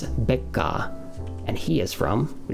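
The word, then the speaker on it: ベッカー: Anyway, we've also lastly got number 4, Mr. Becker, or pronounced in Japanese, Becca, and he is from, we just went over this today, Deutsch, Germany.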